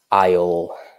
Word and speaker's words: aisle: at a theater yeah nicely done in pronunciation aisle the aisle very good so if you're watching